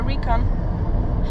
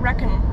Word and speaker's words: recon: way to do a Recon I said it wrong all the time I said reckon I don't know why I reckon that was wrong I don't care if